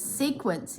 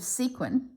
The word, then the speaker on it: sequin: You're the one that says sequence instead of sequin.